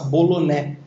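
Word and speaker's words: Boulonnais: poucas pessoas conhecem, que é a raça boloné. Se se escreve bolonais, é uma raça francesa, né?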